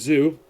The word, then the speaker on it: Zou: And according to law, yep, that is Zoo. That is Zoe, as they pronounce it in the English dub.